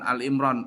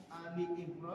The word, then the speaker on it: Ali Imran: menyapu muka dengan tangan ketika bangun tidur lalu memandang ke langit serta membaca surah Ali Imran dari ayat 19. Ali bukan Al Imran. Ali surah Ali Imran.